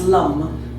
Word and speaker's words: LAM: It's pronounced LUM, but it's written L-A-M.